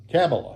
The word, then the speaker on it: Kamala: Kamala, Cannibal? How the hell do you say her name? What's his name? Cannibal? Cantaloupe. Kamala. There we go.